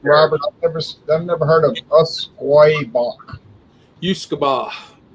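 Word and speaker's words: Usquaebach: I've never heard of Usquoy Bach. Usquoy.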